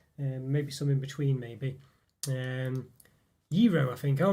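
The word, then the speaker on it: gyro: Sorry, QP said it's pronounced Euro.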